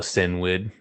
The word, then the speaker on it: Cynwyd: But yeah, they end up in Vita's hometown, Sinwyd, CYNWYD.